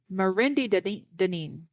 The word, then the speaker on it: Mendi Denine: Hey, phonetically, thank God my name is pronounced Mendi Mendi Denine.